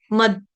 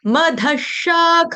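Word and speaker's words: अधः: तो एक सिर्फ द आपने हेरफेर किया तो आपके श्लोक की सेंस जो है वो बिगड़ जाएगी। इस बात का ख्याल रखेंगे। अगर दवा वाला लगा दोगे तो उसका मतलब हो जाएगा पागल।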